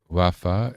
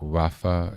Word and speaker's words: רָפָא: Rafa is the traditional pronunciation. So either one is correct, but it's more Rafa is biblical and refa is more spoken in the everyday conjugated sense.